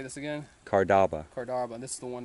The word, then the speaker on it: Cardaba: Cardaba.